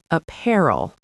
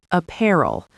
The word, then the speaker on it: apparel: The pronunciation is apparel. Apparel. Stress on the second syllable, pair.